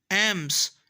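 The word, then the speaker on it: alms: एम्स, एम्स का मतलब होता है खैरात, इसमें एल साइलेंट है।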